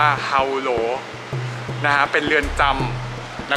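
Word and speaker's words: Hỏa Lò: อยู่ ที่ ครู คิด ชื่อ ว่า ออก เสียง ว่า เอา โหล หน้า เป็น เรือน จำ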